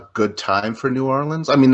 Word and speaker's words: New Orleans: Because I heard it's not Narlands, it's more like New Orleans.